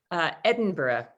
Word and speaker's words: Edinburgh: And Sarah, how would you pronounce our capital city? Edinburgh.